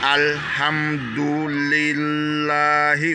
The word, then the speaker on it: Alhamdulillahi: Alhamdulillahi Rabbil Alamin. Je reprends. Alhamdulillahi, ouais, illahi, il y a deux L. Donc le L là, ça doit être un peu dur.